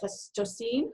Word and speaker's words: Pleistocene: I don't even know how to say that, Pleistocene?